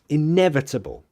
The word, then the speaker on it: inevitable: bit oops um yeah pronunciation we stressed that one inevitable so you hit NE inevitable um she was gonna